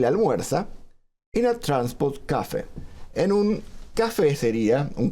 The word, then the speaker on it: café: es adaptada al inglés café que en inglés dicen Cafe lo lo Por más que esté la tilde en la e lo los pronuncian acentuado en la a se refiere no al